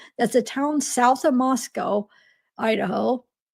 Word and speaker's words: Moscow: south of Moscow Idaho I have to make sure I say it not Moscow it has to be Moscow because I oh gosh every time I say it wrong oh because I you know to me that looks like you'd want to say Moscow but it's Moscow so just in case